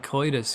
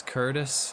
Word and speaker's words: Curtis: And kitus. Yeah. Yeah. Yeah. I mean it it means that everywhere. That's kind of why I say it. But it's also it's Curtis.